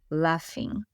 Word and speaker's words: laughing: Lembrando que o laughing, né, o rindo, se escreve com GH, mas pronuncia o F, laughing.